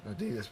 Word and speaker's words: Adidas: did you know that here in America we say Adidas and we've got it all wrong to actually pronounce Adi das two brothers started a